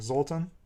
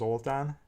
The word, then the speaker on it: Zoltán: Like Zoltan is the American way, right? That's my normal name, but in Hungarian it's actually pronounced Zoltán.